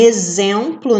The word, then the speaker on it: exemplo: como vocês já viram o x pode ter som de z como a gente tá vendo aqui em exemplo né são dizer o